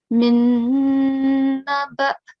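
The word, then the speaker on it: من نبإ: So whenever we have the letter hamza, it has a soft jerk. Okay, so min naba. Excellent. And remember to hold the nasal sound for 2 seconds. Okay, don't rush through it.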